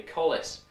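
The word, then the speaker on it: Colles: or just just does it describe the anatomy Collies is named after a man I understand the correct pronunciation is actually Collis and he was a Dubliner as was Smith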